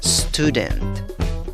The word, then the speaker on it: student: Empiezas con el sonido de una S, seguido del sonido de una T. Luego agregas una U larga. Stew, stew, stew. En la segunda sílaba tienes una D y una schwa, chiquita, muy chiquita, seguido de una N y una T. ¿Cómo pronuncias la palabra? Student, student, student.